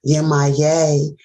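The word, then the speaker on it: Yemaya: Yemaye is also, that's how you pronounce her name. That's the one woman with the fish. With the fish, the mermaid. So Yemaye.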